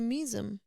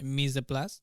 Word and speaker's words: mise en place: Oh, But so that's why we say misem. yeah, Wow, mise en place pronunciation, mise en place, How the fuck did you?